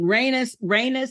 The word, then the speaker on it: Rhaenys: And how do you pronounce her name? Rhaenys.